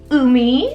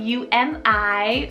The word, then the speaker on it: Umi: For the letter U, we have Umi, spelled U-M-I, Umi.